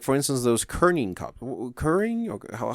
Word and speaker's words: Keurig: Like, for instance, those Keurig cups. Keurig? Or how do you pronounce that?